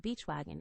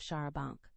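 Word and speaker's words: charabanc: Not more than six or eight will probably come, so I shall hire a beachwagon and borrow Mr. Lawrence's cherry bounce. Hannah's pronunciation of Shara Bank.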